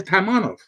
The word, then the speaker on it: Taimanov: to see timing off i want to hear taimanov yeah but i i